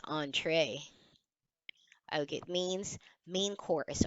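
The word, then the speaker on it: entrée: I didn't know I I read it as entry but it doesn't sound right so I went to Google search see there's already a button here showing how it's pronounced it's actually on tray see but it's in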